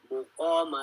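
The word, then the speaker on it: مُقَام: Maqama li Hafsin dhamma. Untuk makad maqama itu Imam Hafs itu jadi dhamma. Muqama lakum ya. Selain Imam Hafs bacanya maqama lakum.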